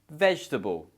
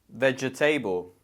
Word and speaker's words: vegetable: people to pronounce because it looks like there's 4 sounds or 4 syllables, but actually there's only 3. So hopefully in this word you can see that we have the E is not pronounced, okay? So it's just vegetable. We cut off that E in the middle.